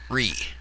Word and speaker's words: Righ: That is spelled exactly as it sounds, R-I-G-H. Ree.